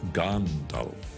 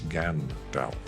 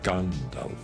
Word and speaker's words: Gandalf: And it's Gandalf, not Gandalf. It's Gandalf. It is Saruman. It is Theoden, not Theoden.